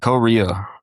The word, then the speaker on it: Qoria: Korea is how you pronounce it, excuse me. Rhyming with Korea or pronounced with Co E.